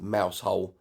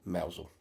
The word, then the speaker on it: Mousehole: village of Mousehole marked on the map, spelled Mousehole but pronounced Mousehole.